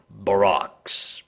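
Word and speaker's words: barroques: To many, they will seem less terrible than barracks or barracks. I'm not entirely sure how to pronounce that word. Yes, we can. Yeah, it's Baroques, and it's like written in italics.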